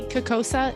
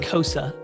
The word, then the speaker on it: CCOSA: And do you say Kokosa? Is that how it's? Nope, it's pronounced Kosa, but I always spell it because it's so easy.